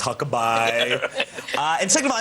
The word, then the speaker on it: Huckabee: an opinion on Healthcare well first all it's pronounced Huckaby it's not hucke it's Huckaby uh and second of all I mean we